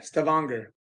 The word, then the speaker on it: Stavanger: Is it Stavanger? Is that how you say it? Yeah, Stavanger.